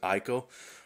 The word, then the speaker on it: Ico: on my unboxing video because I pronounced it Ico. Well, okay, I'm pronouncing it Eco now, so you guys can calm down.